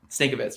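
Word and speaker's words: Stankevitz: And JJ, I want to say his last name right, Stankovich, I think is how you say it, Stankovitz. Yeah. Stankovitz, yep.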